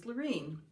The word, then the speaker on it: Laureen: bottom of the stairs my name's laureen um you know what i'm going to spell that for you l like like lovely a u r e e m ring just like maureen but with an l in the front i don't know